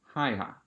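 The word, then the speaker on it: Haigha: happy his name is haiha he pronounced it so as to rhyme with mayor so hey love my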